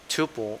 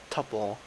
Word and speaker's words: tuple: Also, one of the other kind of sequences I'm going to talk about very soon is called tuple or tuple, however you say it, but it's spelled T, oops, T-U-P-L-E, just like that.